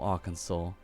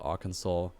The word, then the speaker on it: Arkansas: Ich dachte, das heißt Arkansas oder so. Aber nein, es wird Arkansas ausgesprochen. Ich war auch sehr überrascht davon. Vor allem, weil ich hier dann ein W erwartet hätte, wenn es dann Arkansas ausgesprochen wird.